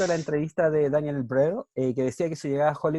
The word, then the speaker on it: Brühl: Dice, a propósito de una entrevista a Daniel Brühl, Brühl se dice, ¿no?